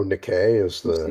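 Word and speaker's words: NIKKE: now because 2B is in the game oh Nick a is how it's pronounced yeah I don't I don't like them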